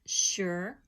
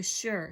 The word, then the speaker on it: sure: of our high-frequency words sure now this word is not like it would it's not pronounced like it looks because here the Asus